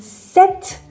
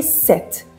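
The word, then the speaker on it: sept: Certaines lettres ne se prononcent pas quand vous dites le X ne se prononce pas quand vous dites 7.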